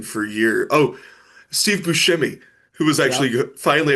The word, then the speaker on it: Buscemi: Oh, Steve Buscemi, who was Yep. actually finally after like 40 years, he's like, it's Buscemi, but I just didn't. I'm like, no, it's Buscemi.